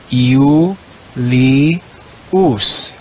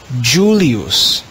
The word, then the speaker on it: Julius: in classical latin as you li us you in church latin that changes that first letter e is written with jay the word in church latin is pronounced julius in classical latin it